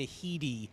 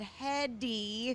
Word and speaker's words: Headey: would have said Heady. Right. I didn't hear the Lee part.